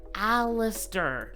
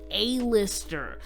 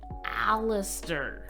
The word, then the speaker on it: Aleister: And I just want to say, before we keep going, it's pronounced Aleister, not Aleister. It makes me so sad to see people pronouncing it Aleister. It's Aleister.